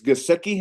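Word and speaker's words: Gesicki: endend but they you know I guess it's gaseki is that how they say it yeah Mike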